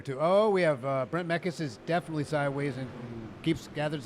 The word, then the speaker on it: Mekkelsen: I keep saying his name wrong. It's Brent Mekkelsen.